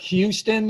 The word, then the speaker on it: Houston: Houston is how we say it.